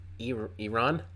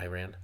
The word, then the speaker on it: Iran: get mad at me Iran not IR ran but uh I'm not